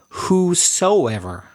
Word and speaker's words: whosoever: that is the word whosoever. I better spell that. WHOSOEVER. Whosoever. So it's not the same as whosever, and it's not the same as whoever. It's whosoever.